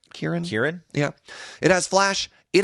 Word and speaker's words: Kirin: Am I pronouncing that right? Kirin?